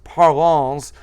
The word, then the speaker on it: Parlons: page prolong cafe llc oh and the s is silent yes so it really hooked on phonics is parlons but yes a silent